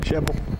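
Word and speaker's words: Shelbyville: Sheble? Sheble. Yeah, that's the correct way to pronounce it, John.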